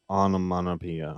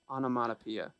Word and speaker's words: onomatopoeia: is uh yeah and i said it was onomanopia i mean that is ridiculous the correct pronunciation on a matapia onomatopoeia um sounds right yeah